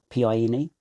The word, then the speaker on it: Pine: said to the teacher, he's mispronouncing that, it's Pine. Not that I knew how to speak Te Reo Māori, but I'd heard enough Te Reo Māori to know that it was Pine.